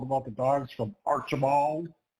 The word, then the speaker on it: Archbald: people say it, because I was going to say Archibald. Yes. But it's Archibald. Like there are 3 But syllables that in that middle word. syllable's real quick. It's got to be quick. You don't want to Super overdo it.